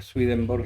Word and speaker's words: Swedenborg: No me acuerdo ahora, pero tiene varios, pero vamos, eso puede entrar en internet, buscar Manuel Swedenborg y va a salir todas su bibliografía y su historia.